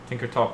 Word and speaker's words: Tinkertop: Tinkertop rhymes with shop, alright?